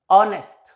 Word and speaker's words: honest: Or most of the adjectives and nouns which are disyllabic, the stress will be on the first syllable.